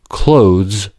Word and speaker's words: clothes: For example, “clothes” can be pronounced /kloʊz/. When /ð/ is omitted, ‘clothes’ and ‘close can become homophones Pre-fortis clipping In American